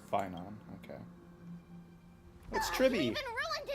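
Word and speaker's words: Phainon: off only get yourself into trouble his name pronounced finon okay Tri he even ruined his weapon now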